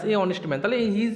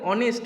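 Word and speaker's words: honest: দা ব্্যাকড কি দিয়েছে অনেস্ট অনেস্ট ম্যান হবে এবার দেখ যেহেতু যেহেতু অনেস্ট কথাটা অ উচ্চারণ হচ্ছে তাই এখানে আমরা বলতে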